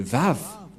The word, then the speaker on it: Vav: Voilà le Vav. Vav ou W-A-W.